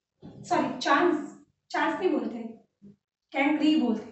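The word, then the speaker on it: chancre: बोलते, कैंक्री बोलते हैं, स्पेलिंग है इसकी ऐसी है ना, जैसे चांस होता है ना, तो चांस के अंदर आर ई लगा दो, पीछे ई के बीच में क्या लगा दो, आर लगा दो, पर इसका प्रोनाउंसिएशन होता है कैंक्री।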